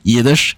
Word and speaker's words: Yiddish: So some people might wrongly perceive it as being pronounced by like an English speaker, but no, that is absolutely how people in like Eastern Europe pronounce it as well. So yeah, the word Yiddish is just pronounced Yiddish in Yiddish, although I will say